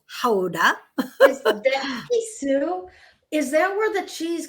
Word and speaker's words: Gouda: and yesterday we were in houda which everyone pronounces as gouda and but really it's haudah is that where the cheese comes from is